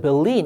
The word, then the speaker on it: Berlin: 베를린이에요. 근데 영어로는 벨린 이렇게 발음된다는 거 참고해 주고 독일의 수도지요.